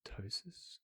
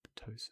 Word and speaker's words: ptosis: Just looking at your upper eyelid now for something called ptosis or ptosis silent p.